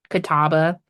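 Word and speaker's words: Catawba: Kataba. Kataba is spelled like C A W T A W B A or something like that.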